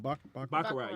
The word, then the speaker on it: baccarat: Baccarat, yeah.